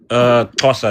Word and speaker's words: Xhosa: I'm part of the Xhosa people. What was it? Xhosa. It's a pretty difficult word to How do you pronounce.